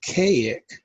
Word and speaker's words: Kazik: The name is pronounced Kazik, but it's spelled K-A-Z-I-K.